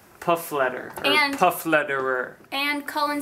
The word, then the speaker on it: Pflederer: You take off the P in the last ER and look at that, Pflederer, F-L-E-D-E-R, and that's how it's pronounced. So it's basically a silent P and a silent ER.